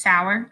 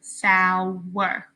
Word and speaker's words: Sauer: So my last name again is Sauer, sour. 2 drops, 2 syllables.